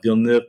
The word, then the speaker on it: Villeneuve: Villeneuve, how do you say that? Yeah, Villeneuve.